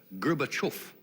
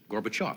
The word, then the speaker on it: Gorbachev: he says it's gerber gerbachov mikhail gorbachev but he said also that accepted american pronunciation is gorbachev that's a lot easier